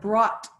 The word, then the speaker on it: brought: What brought you here? What brought? Brought. So the G Brought. and the H are silent.